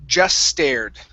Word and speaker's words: just stared: Okay, so here we're going to drop the T sound. So instead of saying just stared, okay, combine the S sound at the end of just and the S in stared, okay, and drop that T.